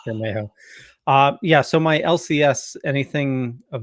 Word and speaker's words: Bermejo: I always thought it was Bermejo. I've been pronouncing that right. right. It's just nice. It's Bermejo.